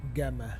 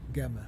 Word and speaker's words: Gama: my ship even be it's Vasco da Gama not the gamma by gamma da F